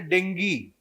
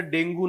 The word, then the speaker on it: ডেঙ্গি: ঠিক আছে, তার মধ্যে কমন ভাইরাল ফিভারের মধ্যে একটা হচ্ছে ডেঙ্গি। ঠিক আছে, মানে মোর মানে কি বলবো, টেকনিক্যালি কারেক্ট বলতে গেলে এটার প্রোনাউন্সিয়েশনটা ডেঙ্গু নয়, ডেঙ্গি, ঠিক আছে।